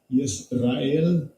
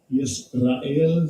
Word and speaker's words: Yisrael: And this is how it's pronounced. Strong's H3478. Yisrael. Yisrael.